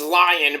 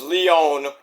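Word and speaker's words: Lyon: Everybody says it's lion, but it's Leon.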